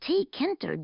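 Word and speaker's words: Tkinter: I believe it is pronounced T-Kinter, G-U-I.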